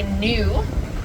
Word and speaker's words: gnu: Yeah, another name for a wildebeest is a gnu. That's spelled G-N-U.